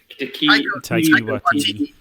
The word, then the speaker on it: Taika Waititi: like Tahiti, whatever his name is, Taika Taika Waititi. Thank you. I can't. I'm dyslexic. Okay, Oh, so hard name to pronounce anyway.